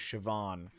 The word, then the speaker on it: Siobhan: generator siobhan there we go her name is siobhan but it's spelled s-i-o-b-a-h-n h-a-n the nice would i say